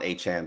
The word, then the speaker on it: Achane: Get Devon Achane back.